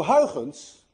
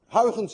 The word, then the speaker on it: Huygens: Huygens, by the way, is difficult to pronounce. Anyone of you who knows how to say Huygens correctly is also Dutch, because you miss the ui in your language and you miss the ch in your language.